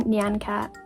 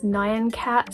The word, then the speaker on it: Nyan Cat: So, this is a deep dive into everything Nancat. For the record, I did grow up with everyone around me pronouncing it as Nian Cat. So, I may or may not slip up and say that instead, but I'm trying my hardest.